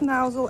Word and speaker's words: Mousehole: us here mouse will pronounce mousel as in chairman mao which is very helpful